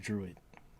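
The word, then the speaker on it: Druig: yeah, it's Druid, yeah, or no, it's drug, it's Drug, but it's Druid though. It's what? It's spelled with a G at the end, but they pronounce it like Druid, I think.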